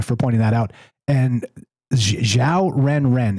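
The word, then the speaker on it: 小人: And xiao ren. It's XIAO ren, and just like it sounds.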